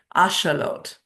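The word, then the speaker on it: axolotl: Did you know the oxalottle is named after an Aztec god? And indigenous speakers pronounce it ashelot.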